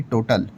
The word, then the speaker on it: Total: तो भाई वो बीच में जो टोटल लिखा हुआ है उसको एक्चुअल में टोटल करके प्रोनाउंस किया जाता है। वो कोई भाई ऐसे ही नाम नहीं है भाई वो फ्रेंच की कम कंपनी है।